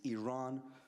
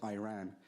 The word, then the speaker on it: Iran: the Iranian people but you're pronouncing our country's name wrong a country is named Iran not Iran please once and for all let's get this